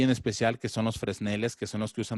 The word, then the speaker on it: Fresnel: se llamó Agustín Vázquez Fresnel, que realmente se pronuncia Fresnel.